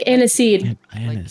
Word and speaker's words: Anise: she's fantastic i'm sorry did you say her name is anus like aniseed like the spice anise a-n-i-s-e-u she gives you like